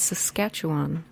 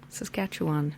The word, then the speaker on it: Saskatchewan: in Saskatoon Saskatchewan yeah that's Saskatchewan for all the other American people that I've heard on podcast trying to pronounce Saskatchewan its Saskatchewan Saskatchewan yes and that eastern